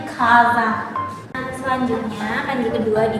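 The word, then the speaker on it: 火山: Maka dia dibacanya kanji apinya tuh ka, dan ininya tuh sa. Jadinya kaza.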